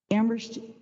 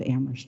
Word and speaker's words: Amherst: an affordable housing crisis Amherst is the community where only the H is silent our community is passionate